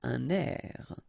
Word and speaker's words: un air: Okay, we'll make this little link between the two, un air.